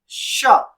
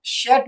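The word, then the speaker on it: chat: यहाँ पे शेट का मतलब है कैट, शेट का मतलब है कैट। तो इसको हम क्या प्रोनाउंसिएट करेंगे, इसको हम शेट भी नहीं पढ़ेंगे, इसको हम पढ़ेंगे शा, शा विच मीन्स कैट।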